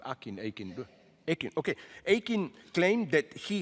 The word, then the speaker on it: Akin: Responding to this fury, Akin, how do you pronounce the name? Akin.